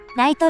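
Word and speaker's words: 雷都: もあり、雷の都と書いてライトというわけです。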